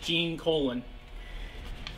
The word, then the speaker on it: Gene Colan: art by the masterful gene colon i know it sounds awkward but that is how you pronounce his name i looked it up